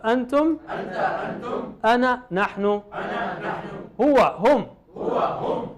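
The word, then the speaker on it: أنا: Ana is written as ana, but you never pronounce that alif. You just say ana, as if there is no alif there.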